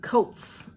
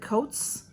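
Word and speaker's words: Cōtz: and then this um it's c-o-t-z coats and they have a a line over the O so I would pronounce that coats healthier sunscreen Flawless complexion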